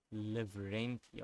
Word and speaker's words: Lavrenti: It's gonna annoy me if I didn't pronounce his name correct. Lavrenti, I think that is how you pronounce it.